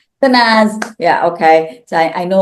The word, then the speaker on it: Tanaz: I met our guest Tanaz and am I pronouncing your name correctly? Uh Tanaz. Tanaz.